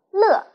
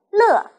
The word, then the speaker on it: 乐: ，快乐的乐是个多音字，它在表示开心高兴的时候读乐，跟老师读乐，快乐。